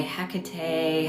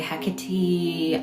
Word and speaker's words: Hecate: Um, everyone says her name different. That's up for debate. Whether you say Hecate, Hecati, I say Hkate.